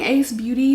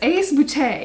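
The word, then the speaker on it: Ace Beauté: been saying this wrong i've been saying ace beauty because you know but it's ace boute is how they pronounce it and i actually have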